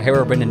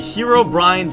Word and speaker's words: Herobrine: how they pronounce it hundreds of Minecraft youtubers have spoken about herob brenon videos over the years and several different pronunciations have been used yeah we are doing the herob Brian's Mansion uh Adventure Map hello everybody and welcome to the Herobrin um so hi guys